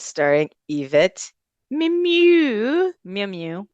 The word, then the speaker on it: Mimieux: Mew mew. Is that how you say it? Mimieux. Meow meow. It's Yvette Mimieux.